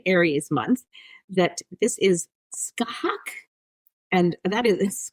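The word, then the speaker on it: Scáthach: So, this month I have chosen and this is because we are in such an Aries month that this is skahak and that is skahak pronounced uh s ca with a little accent over it.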